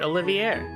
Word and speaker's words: Olivier: Also, I am saying it right, Olivier. I'm adding a little bit of a twang at the air part, but cool.